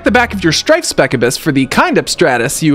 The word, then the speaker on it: Specibus: Oh, it is Specibus.